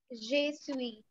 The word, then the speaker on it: je suis: So you're not, Anant, you're not going to speak out the last alphabet better. Not je suis. Why? It is a consonant. And it is a rule in French that we don't call out the consonants that lie in the end.